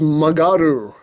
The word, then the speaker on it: Magaru: That's the way it's spelled on the box, but it's actually pronounced Magaru, which apparently means to turn, because this is the signal bike he uses to make the shots turn.